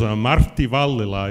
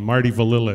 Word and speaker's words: Martti Vallila: My name is Martti Vallila is the Finnish pronunciation of my name. Marty Vallila is the American pronunciation.